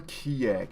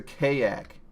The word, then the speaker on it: kayak: of those co-op games it's not a keg it's a kayak kayak no cardiac now is